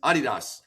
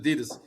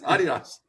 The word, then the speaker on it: Adidas: It's Adidas. That's how they That's how I found it they pronounce it Only America. It's only America where we pronounce it Adidas. So it's Adidas.